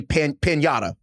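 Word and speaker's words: pagnotta: The Italian word for loaf is Mhm. pagnata, pronounced roughly pagnata.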